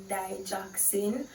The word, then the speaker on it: digoxin: I've also heard it pronounced as "dij-OK-sin".